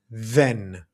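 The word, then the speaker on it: δεν: or the Greek don't and pronounced with a th sound like when we say that in English, right? Or there. You see this is the Greek delta here, the sound as if we're pronouncing then, right? or there or that. So feel free again to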